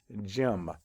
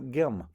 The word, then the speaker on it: gym: At the beginning of a word, if you hear the J sound, followed by an E, I, or Y, it's also spelled with a G. And you can see that right here with the word gym. It's followed by an E, so we say gym, and not gym.